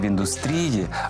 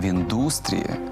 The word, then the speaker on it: індустрія: ж Ольга помилилася по-перше не в індустрії а в індустрії запам'ятайте у словах індустрія і металургія наголос падає на у а по-друге попзірка не